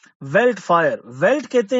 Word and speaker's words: veldt: ये एक ऐसा अंधेरा था ऑफ अ वेल्ट fire. वेल्ट कहते हैं जी एक वुडलैंड, जंगल में जैसे आग लगी हो उसको हम कहते हैं वेल्ट. मीन्स यहाँ पे फॉरेस्ट है. VELDT. इसमें डी शायद साइलेंट होगा.